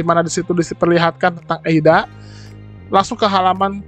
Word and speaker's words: Eida: lagi kalau teman-teman bingung eida ini sebenarnya penulisannya Bagaimana penulisannya tetap a alias ada tapi dibacanya eida jadi gak usah bingung namanya eida atau ada sama saja oke di sini disebutkan